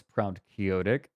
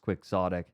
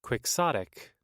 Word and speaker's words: quixotic: the sequel to Neuromancer I don't think it's proud kyotic i' I've heard it pronounced quixotic yeah here Google quick sotic yeah I that that's